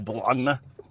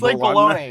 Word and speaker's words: bologna: too many weird syllables there's like a g in there I think B well bologna yeah like baloney it's like baloney it's like um that